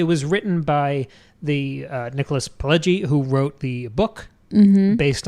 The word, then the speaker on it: Pileggi: Nicholas Pileggi, and I don't know how to pronounce that, I'm riffing. You're Italian. It's Pileggi.